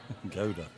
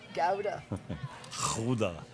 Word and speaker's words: Gouda: She ch she chose Gouda. Also, how do you say that word? Gauda. Gauda. As they say in uh its home country.